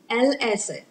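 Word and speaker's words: الأسد: Asad, Al-Asad.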